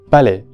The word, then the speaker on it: Palais: En este caso tenemos la palabra palais, que no es nada difícil, solamente hay que recordar que termina con la vocal E abierta porque tenemos la combinación A y S. Palais.